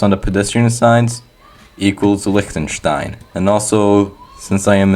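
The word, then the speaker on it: Liechtenstein: So, Likenstein, yes, that's how you pronounce it, has not a lot of meta since it's a very tiny country.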